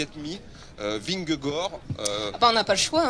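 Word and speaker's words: Vingegaard: on va jusqu'au bout vinggor il y a pas le D on prononce pas le D et c'est Jonas vraiment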